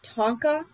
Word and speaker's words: Tonka: Tonka. There's a dog named Tonka. Well, how do you say it? Say it. Tonka. Tonka. Tonka. Tonka. Tonka. Tonka. Like the trucks.